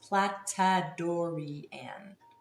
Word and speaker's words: Platadorian: Platadorian is pronounced platadoran.